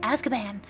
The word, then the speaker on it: Azkaban: That's how you say it, Azkaban.